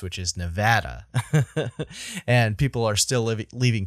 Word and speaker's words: Nevada: I'm from New England, so I pronounce I pronounce the state it's from Nevada, not apparently how it's supposed to be pronounced, which is Nevada.